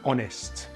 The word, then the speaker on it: honest: Sometimes the letter H is silent at the beginning of a word. These are usually French borrowed words like hour and honest.